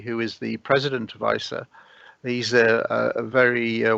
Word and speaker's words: ICER: uh this launched uh do we call it ice or is that the per the coin yeah yeah that's perfect pronunciation isa right and uh your